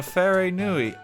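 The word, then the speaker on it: wharenui: do i house oh how do i pronounce that very new eye is it a it's an f sound is it built by arrow info on a fairy nui this is so colorful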